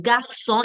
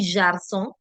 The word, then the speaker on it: garçon: So, for example, garçon. G is followed by A, the sound A. Hence, we'll use the hard sound. Okay, so garçon, it will never be jarson.